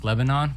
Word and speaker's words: Lebanon: Yeah, so it's Lebanon, but I troll him and call him Leb Zanin, so it's like funny.